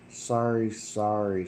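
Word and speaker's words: sari-sari: sorry but it's uh s a r ri sorry sorry star yeah it is a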